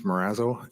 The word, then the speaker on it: Marazzo: the record please State your full name and spell it out morazzo m-a-r-a-z-z-o do you solemnly affirm that the evidence